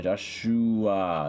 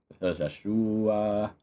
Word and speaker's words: Joshhhuaaa: Joshua. Yeah, Joshua. It is literally how you pronounce it.